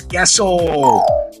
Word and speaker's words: queso: some cheese guys although his name is Caso uh but in Spanish it's gesso um so we're gonna